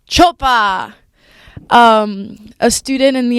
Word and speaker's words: Çopa: bizard how do you say your last name choa choa um a student in the SFS majoring in